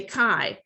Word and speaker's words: chi: for you guys so you say kai okay so kai is a greek letter and it's just kind of this fancy script x okay so the chi